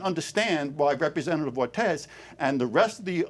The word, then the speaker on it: Ortiz: Representative Ortiz, you have 2 minutes to respond. It's pronounced Representative Ortiz, Senator Kavanagh.